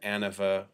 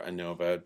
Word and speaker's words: ANOVA: an analysis of variance, also called an ANOVA for analysis variance, or ANOVA, depending on however you want to pronounce it.